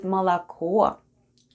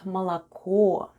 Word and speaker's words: молоко: And the last new word for today is МОЛОКО /malako/ МОЛОКО /malako/, which is Russian for "milk." Let's spell the word МОЛОКО /malako/: the first sound is /m/, then goes О... It's unstressed and it's pronounced as /a/.